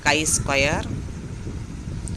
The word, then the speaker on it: chi-square: The other symbol is the x square, which is pronounced as chi-square for goodness of fit.